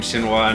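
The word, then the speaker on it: Shenhua: I really like Shinfa, or Shinhwa. They pronounce her name Shinhwa now.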